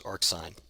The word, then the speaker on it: arcsin: to define its inverse, which we write as sine to the minus 1, but we pronounce as arcsine.